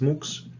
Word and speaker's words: MUX: which is many times abbreviated as M uxx and pronounced by many people as muks you can call it